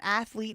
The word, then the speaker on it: athlete: Yeah, I did tell my mom one time that athlete is a two-syllable word.